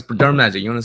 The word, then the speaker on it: Dermagic: No, it's Dermagic. You want to spell it out?